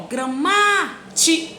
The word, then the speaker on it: gramática: Quando eu tenho a palavra gramática, ó, gramática, tá vendo? A sílaba tônica é o ma.